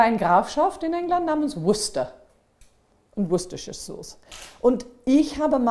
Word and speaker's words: Worcester: In Sachsen weiß ich nicht, aber hier Würkester und ganz verschieden. Aber eigentlich heißt das wie? Worcester. Worcester. Worcester. Es gibt sogar eine Grafschaft in England namens Worcester.